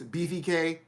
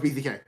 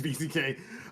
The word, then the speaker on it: BZK: got Matthias BVK Torrescani. He's Brazilian. You got Bazooka. Eric. No, it's BZK. I've heard him say his name. It's BZK.